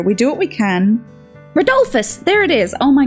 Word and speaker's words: Rodolphus: Rodolphus, there it is. Oh my God. Rodolphus. I've been saying Rodolphus this whole time, but it's Rodolphus.